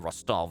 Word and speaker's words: Rostov: comes next after this rostov or rostov actually the correct uh stresses um on the second syllable and uh infantry some